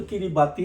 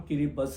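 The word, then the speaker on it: Kiribati: बोलने में तो किरिबाती लगता है, परंतु वहां के प्रोनाउंसिएशन के हिसाब से इसका नाम किरिबस है, किरिबस।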